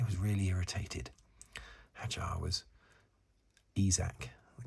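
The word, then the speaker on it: Isack: Isaac, the correct pronunciation, isn't it?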